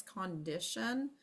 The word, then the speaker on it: condition: here and not I it's not cond I it's condition same thing with the